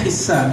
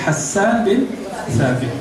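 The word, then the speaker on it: حسان بن ثابت: Begitu cara bacanya yang sahih. Hassan bin Thabit. Boleh dibaca Hissan, tapi yang sahih Hassan bin Thabit.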